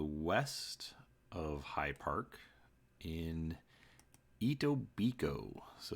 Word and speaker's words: Etobicoke: of High Park in Etobicoke so as you can see here the K is silent actually reached out to